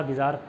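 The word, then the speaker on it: bizarre: तो उसका सिनोनिम है बिज़ार, ठीक है। बिज़ार का बिचारा से कर लिया, बिचारा बिज़ार, ठीक है, बिचारा बिज़ार। उसको बिज़ार प्रोनाउंस करते हैं, तो उस बिज़ार को बिज़ार ना प्रोनाउंस करके बिज़ारे करो।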